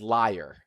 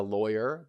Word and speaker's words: lawyer: He pronounced the word as liar, not as a lawyer but as a liar.